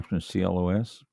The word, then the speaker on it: Clos: clone now this na Clos pronounced CL okay that's French for you don't pronounce the S CL that is a